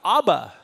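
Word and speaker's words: אבא: you have ABBA see notice how the the V changed to be ABBA of like dad and daddy office father Abba is daddy so you can hear the vet in the bed change now so you don't confuse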